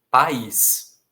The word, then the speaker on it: país: Sem acento, a nossa tendência natural para P-A-I-S é ler paz. Como existe uma outra palavra que se aproveita das mesmas letras, mas que tem uma pronúncia diferente, cabe acentuá-la. Então, país.